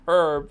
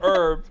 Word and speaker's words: herb: You just now strategically avoid saying the word herb because you say it herb and I say herb.